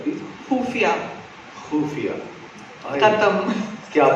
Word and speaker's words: खुफिया: क्या बात है, लेकिन मैं तब्बू मैम आपसे सीखना चाहता हूँ, ख कैसे कहा जाता है, फ्रॉम दी एपिग्लॉटिस कहते हैं ना, वो मुझे बड़ा अच्छा लगता है।